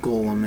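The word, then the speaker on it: GOLM: much to his surprise it ends up being pronounced like Gollum anyway a side note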